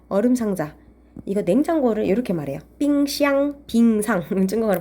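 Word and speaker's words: 冰箱: 빙샹, 빙상. 중국어로 발음으로. 빙샹.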